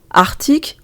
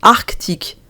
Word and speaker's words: arctique: que selon le dictionnaire ces mots peuvent aujourd'hui se prononcer de deux manières arctique ou arc tic antarctique ou antarctique pour ma part je